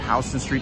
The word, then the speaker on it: Houston Street: 1811 it starts at houston street to the north and you guys already know it's pronounced house and remember that pronounced